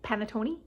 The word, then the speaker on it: panettone: going to look it up now how to pronounce it it's panatona panatona what's i saying panettone tony oh you guys excuse me uh okay